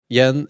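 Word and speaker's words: Jens: Oh, Yen. It's not like Jan but anyway.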